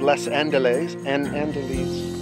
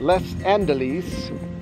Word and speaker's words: Les Andelys: Wait, wouldn't it be pronounced just like Les Mis, Les Andelys?